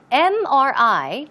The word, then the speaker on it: MRI: an MRI now also notice MRI it starts with a consonant right but the M when you pronounce the M you pronounce it as m m it starts with a vowel sound e and that's why it should be on MRI not a MRI okay keep that in mind